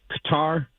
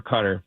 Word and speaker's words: Qatar: And people pronounce it Qatar or Qatar, both. Oh. And it's strange because when you go there, the people there that live there don't usually correct you one way or another. So I think they're okay with both.